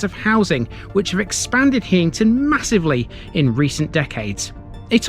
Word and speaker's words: Heighington: housing which have expanded hington massively in recent decades it all means High farm and it's sometimes pronounced heyington let's go this